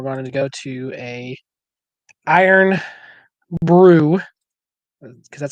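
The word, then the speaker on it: Irn-Bru: and then we're going to go to a iron Brew because that's how you pronounce it let's see Liquid Gold okay let's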